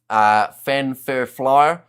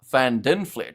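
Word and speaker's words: van der Flier: Fanfurflyer, not Van Dinflair.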